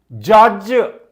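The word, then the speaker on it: judge: उच्चारण को आसु नहीं ब्रिज तेणु एटी डी साइलेंट रोचे ब्रिज जज जज नॉट जज एटी डी अच्छी स्पेलिंग रे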